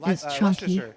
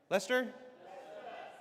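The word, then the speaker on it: Leicester: Uh, straight out of back to the hex photos from Leer. How do you say is that Leer? Lester. Lester.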